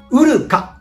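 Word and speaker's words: 砂川: はい、砂に川と書いてウルカと読みます。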